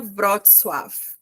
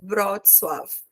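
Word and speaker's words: Wrocław: escreve assim eh e se pronuncia brot swf como se fosse um F no final brot swf né só que quando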